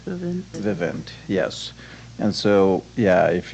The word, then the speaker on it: Vivint: Is it pronounced Vivint? Vivint, yes.